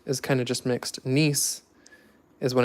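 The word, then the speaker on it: gneiss: when it's nice and I'm saying nice because it's spelled like that but it is nice spelled you say it like n-i-s or n-i-c-e nice but yeah under that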